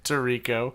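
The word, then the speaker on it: Tirico: a little tired just found out that Mike Ty Rico is actually pronounced tariko you just found this out yes he's been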